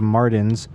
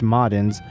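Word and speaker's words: Marden's: Sid Betta said his bipartisan hackery makes the former corrupt right-wing governor Leage, the former CEO of Martins or pronounced Modens, seem like a good faith upright citizen by comparison.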